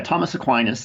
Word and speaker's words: Aquinas: you say it yeah Thomas Aquinas is is normally the present eight sorry the pronunciation in English but of course he's he was actually Italian so it would be you know Tomas a queen or something like that yeah you know however